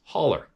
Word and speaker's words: hollow: mountain in the next Hollow pronounced holler for the nons southerners and sounded like it